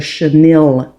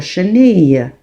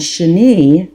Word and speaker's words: chenille: as a lot of people say it the chenille stitch. However um what how you do pronounce this word it's called a cheni stitch and sheni how you say sheni in English is caterpillar.